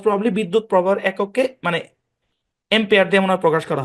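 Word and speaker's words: ampere: এমপিয়ার অরজিনালি M pair আর কি এমপিয়ার হ্যাঁ এম্পিয়ার বুঝেন তো মানে বিদ্যুৎ প্রবাহের একক মনে হয় খুব সম্ভবত ভুলও হইতে পারে আমার কথাটা যাই হোক মোস্ট প্রবাবলি বিদ্যুৎ প্রবাহের একককে মানে এম্পিয়ার দিয়ে মনে হয় প্রকাশ করা হয় তো এম্পিয়ার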